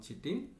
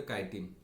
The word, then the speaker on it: chitin: the made up from chitin or or it is also known as the kaitin okay kaitin chitin these are the both pronunciation fungal cell cellulose another chemical